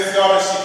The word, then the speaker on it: theodicy: That word is called theodicy. It is spelled Theodicy.